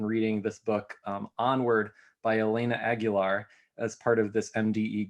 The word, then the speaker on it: Elena Aguilar: uh and youtubing to make sure that i was pronouncing elena aguilar correctly and then rai rightly pointed out that i could have just thought of christina aguilera and it would have been really easy but uh problem solved